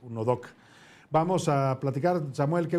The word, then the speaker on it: UNODC: y el Delito, la se pronuncia UNODC, pues UNODOC.